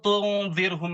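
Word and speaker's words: تنذرهم: Kalau tunzirhum itu ro-nya dibaca tarkik atau tipis. Tipis itu gigi kita jadi kelihatan.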